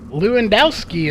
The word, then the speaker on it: Lewandowski: one of the new guys here tonight Daniel Lewandowski is how we pronounce that name Corey Henry justin Chapman and